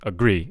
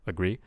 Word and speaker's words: agree: your mouth but the the stress sounds almost too stressed like I'm hearing agree instead of like agree uh and also the the non-stressed syllable so the the uh in the agree the first syllable um because it's unstressed uh the vowels should be realized differently the given statement I would highly agree with the I'm kind of hearing a agree instead of agree so we we kind